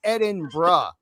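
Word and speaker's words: Edinburgh: Uh, Jackie boy is giving me 40 lashings because it is pronounced Ed in Bruh. Like, bro.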